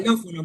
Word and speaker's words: xilófono: O también para representar el fonema S, cuando está al inicio de la palabra. Xilófono, profe, por ejemplo.